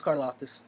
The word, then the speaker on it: Karlaftis: So the Packers get George Karlaftis as the guy. I don't think I pronounced the last name. No, you did. It's Karlaftis.